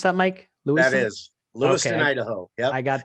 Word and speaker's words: Lewiston: Is that how you pronounce that, Mike? Lewiston? That is Lewiston, okay.